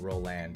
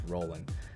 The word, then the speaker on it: Roland: And yeah, it's not Roland, it's Roland. Somebody told me to pronounce that correct.